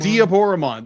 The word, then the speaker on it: Diaboromon: Diaboromon. Thank you. Because it's going to be the Japanese version pronunciation of Diablo, so Yeah. Diaboro. Diaboromon.